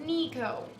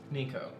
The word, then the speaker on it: Nico: Also, sorry, but it's pronounced Nico. Nico. Long E.